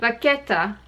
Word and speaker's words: vachetta: Today's video is all about vachette or vachetta, depending on where or how you like to pronounce it. In French, it's vachette. In Italian, it should be vachetta.